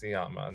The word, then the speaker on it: Sciamma: I think it's pronounced Sciamma. Now that you've said it, I love her.